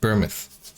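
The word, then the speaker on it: Bournemouth: might be thinking of burn mouth or burmuth that's how you say it bermuth sorry for my mispronunciation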